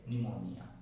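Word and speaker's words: pneumonia: पता नहीं समझ कि अगर मान लो कोई वर्ड पी एन से शुरू होता है, किससे शुरू होता है, पी एन से शुरू होता है, तो उसमें क्या होगा, जो पी है वो क्या हो जाएगा, साइलेंट हो जाएगा। ठीक है, जैसे निमोनिया।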